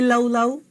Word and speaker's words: laulau: start with laulau and everyone say laulau ends with an oo sound okay are you saying